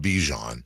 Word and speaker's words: Bijan: Notice, by the way, the proper pronunciation of Bijan. He corrected it in the offseason. Bijan. He said it's not Bijan. Yeah. It's Bijan.